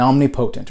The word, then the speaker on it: omnipotent: This is omniscient, omnipresent, and omnipotent or omnipotent.